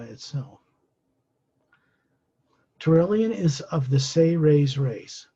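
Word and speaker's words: Seres: turalyon is of the say ray's race it's spelled s-e-r-e-s but is pronounced phonetically as if it was spelled s-a-y hyphen r-a-y-s say rays they are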